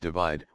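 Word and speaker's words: ÷: album worldwide of 2015 shirin's third album / pronounced divide was released in march 2017 the album debuted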